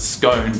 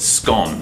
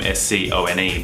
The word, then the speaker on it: scone: call a scone, except we don't pronounce it scone, we can pronounce it scone. Well, we actually spell it the same, S-C-O-N-E, but it sounds like S-C-O-N, scone. Think Tron.